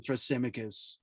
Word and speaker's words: Thrasymachus: what did what did thrasymachus say uh justice was that's how you pronounce his name thrasymachus he said justice is